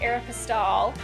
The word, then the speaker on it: Aeropostale: is so we see an arrow postal or I think it's considered to be pronounced Aeropostale an advertisement here and